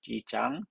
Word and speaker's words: E. Jean: 발음이 이진이 말고 이장, 진. 불어는 장이겠죠? 이진 캐럴.